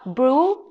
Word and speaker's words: bruschetta: god i can't because if you see it spell in english you will pronounce like that which is no we call brew because c here equal it's fun you know